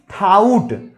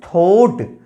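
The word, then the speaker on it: thought: हैं जानते हैं गाइस, वो इसका प्रोनाउंसिएशन कर देते हैं थाउट, लेकिन थाउट प्रोनाउंसिएशन नहीं होगा, it's pronunciation is थोट, टी एच ओ यू जी एस टी, थोट, क्योंकि यू भी साइलेंट है, टी ए यू जी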